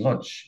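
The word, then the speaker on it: Łódź: there's a story about the Boot factory in Lodge in Poland Eller it is a lodge that's how you just spin it pronounce it um a man remodeled his was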